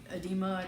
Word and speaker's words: edema: I started getting the edema edema that's how you pronounce it the water retention I